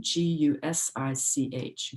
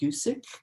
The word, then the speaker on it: Gusich: mispronouncing her last name g-u-s-i-c-h gusik gusich i'll say goosage she describes her disbelief